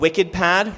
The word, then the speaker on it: WikidPad: I use a software called WikiPad, which is spelled WikiDPad.